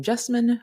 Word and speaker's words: Jessamyn: there I'm your host jine Rickman if you're new here welcome I have a spunky way of introducing myself as that is my name jine rhymes with specimen but with a J I am a budding